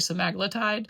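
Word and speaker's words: semaglutide: I heard someone say that the other day and I was like, have I been saying? We've all been saying it wrong. It's actually simaglletide, but I just don't like the way it sounds.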